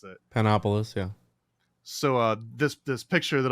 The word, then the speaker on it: Panopolis: And coincidentally, this comes from notes about your homeboy Zosimos of Panopticus. I can't always pronounce it. Panopolis, yeah.